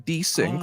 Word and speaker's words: Desync: It's also different pronunciation. I'm Desync. They are Desync. Theirs is like a split of their name. They've said that theirs is Desmond, so they're Desync. I'm Desync, like the desync word.